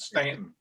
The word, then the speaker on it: Staunton: Did you just call the valley the town called Staunton? You know damn well these rednecks and hillbillies down there pronounce it Stanton.